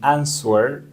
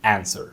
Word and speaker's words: answer: y algunas personas dicen answer pero no la W acá es muda Así que vas a decir answer Y por último tenemos